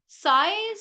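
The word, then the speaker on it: psi: known as s p si p is silent a Greek symbol s it's a function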